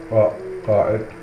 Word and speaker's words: Qa'id: Every large caravan was headed by Qa'id, pronounced Qa'id.